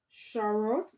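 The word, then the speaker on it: charoite: mention this one okay this one is called shot okay it's spelled c h a r o i te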